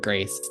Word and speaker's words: 333: me this thing called grace that really eluded me. And so 333 was my first drag name, pronounced as Grace, but most people were like, "What?